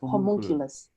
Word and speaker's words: homunculus: on my screen the image that is the homunculus am i pronouncing this correctly yes homunculus yeah i just want to show that image